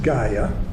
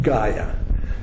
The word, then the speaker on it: Gaia: I pronounce it Gaia, Gaia. Some people pronounce it Dea.